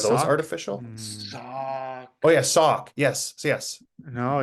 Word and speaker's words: Sauk: Oh yeah, Sauk. Yes, yes. No, it's not. What? No. How'd you spell it?